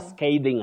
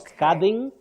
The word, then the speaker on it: scathing: everything now that word the a in that word takes its name as the sound that is a so you say SK SK then you combine it with thing a scathing attack not scathing not scathing okay sking okay let me